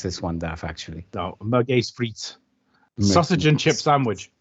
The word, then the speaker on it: Merguez: You wanted to pronounce this one, Daff, actually. No, Merguez frites.